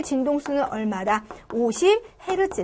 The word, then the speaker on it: 헤르츠: h 대문자 소문자 제트 읽을 때는 해에 루프트 라고 읽고 진동수의 단위 입니다 그래서 얘 주 동안 5회 진동했다 그럼 5 헤르츠 해초 동을 10회 진동했다 10 헤르츠 싸 우리